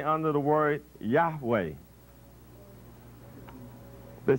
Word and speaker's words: Yahweh: consonants of this word that the pronunciation is in ancient times was yahweh is concluded from the transcriptions in the early christian fathers so that word according